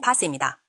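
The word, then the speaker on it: PaaS: 정식 명칭은 플폼 as a serv 줄여서 PAS 발음은 파스입니다.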